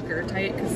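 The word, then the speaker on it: goethite: Well, it's spelled gothite, but I pronounce it gertite.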